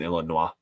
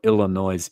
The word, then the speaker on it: Illinois: No, I don't pronounce the S in Illinois.